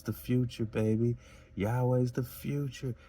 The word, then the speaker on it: Yahweh: of ancient Hebrew linguistics led many scholars to advocate for the pronunciation Yahweh.